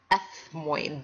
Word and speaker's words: ethmoid: called the ethmoid bone ethmoid bone sounds like you have a lisp ethmoid bone the ethmoid